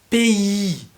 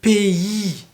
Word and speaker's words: pays: Et il y a toujours un S à la fin, même si on dit le pays.